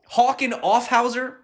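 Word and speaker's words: Hauck Aufhäuser: going to butcher this name hawking off of hawken offhauser is how you say it one of germany's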